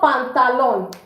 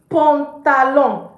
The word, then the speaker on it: pantalon: It's not pantalon. It's pantalon. Pantalon. Okay? So pan, because an is on.